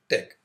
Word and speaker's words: TeX: Although it has the spelling te x, it is pronounced tech.